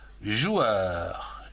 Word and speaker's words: joueur: Et donc là, le verbe être joueur. J-O-U, joue. E-U-R, heure. Joueur. En deux syllabes.